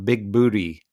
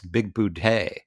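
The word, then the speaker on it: Bigboote: is spelled b-i-g-b-o-o-t-e and they call him big booty all the time and he keeps correcting him it's big boudie um and so that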